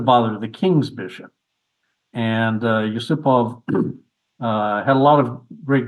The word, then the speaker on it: Yusupov: Um, did have a later disciple, the Soviet GM Artur Yusupov, or Yusupov, I believe it's pronounced.